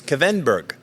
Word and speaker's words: Kvenberg: Her last name is Kvenberg. And that's a K-V-E-N, which is tough for us, English speakers to put together.